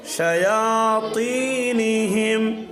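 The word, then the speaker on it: شياطينهم: শায়াতিনিহিম, তটা মোটা হবে।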